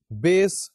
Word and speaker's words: bass: The very next term is bass, B-A-S-S. ایک اور لفظ ہے that has got the same pronunciation, that is B-A-S-E.